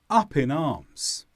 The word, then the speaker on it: up in arms: The stress is on up and arms. They were up in arms.